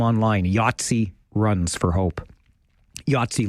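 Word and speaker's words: Yatzi: Yatsi like the game, but not spelled the same. Y A T as in Thomas, Z I.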